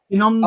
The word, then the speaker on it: Kinondo: Kinondo Q2, is it? Is that how you say it? No, Kinondo. I was ready to say Rich Braveman Game isn't running this, is it?